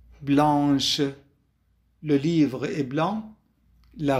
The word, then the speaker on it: blanche: سي أضفنا عليها آش وبالتالي صارت تلفظ blanche.